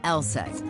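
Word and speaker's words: LSEG: the world of Finance names can be a bit misleading take ours for instance pronounced LSAT AKA London Stock Exchange group sure we're in London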